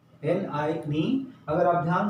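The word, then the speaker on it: 你: एन आई सो जो tone है ये ये फॉलिंग एंड राइजिंग बोलता है आप फॉलिंग एंड राइजिंग टोन है जो प्रैक्टिस में आएगा एन आई is knee N I knee N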